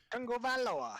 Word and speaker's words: Tagovailoa: whatever his last name is, because I can't pronounce it. Tagovailoa.